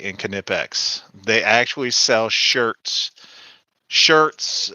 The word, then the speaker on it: Knipex: But that you don't leave the K out.